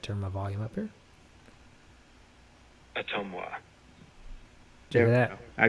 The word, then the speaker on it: Ottumwa: up his services, and this is how you're supposed to pronounce it as a native Iowan. Okay, maybe I should turn my volume up here. Atomwa. Did you hear that? I got it. Atomwa.